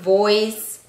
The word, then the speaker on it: voice: pero en primer lugar la b y la b en inglés tienen un sonido que se diferencia no no como nosotros